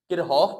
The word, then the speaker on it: Kirchhoff: किरहॉफ पढ़ें, कोई लोग किरहॉफ की प्रोनाउंसिएशन करते हैं, कोई लोग किरचॉफ की प्रोनाउंसिएशन करते हैं।